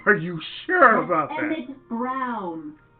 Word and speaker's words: Browne: you sure about it Browne rhymes with clown which I'm beginning to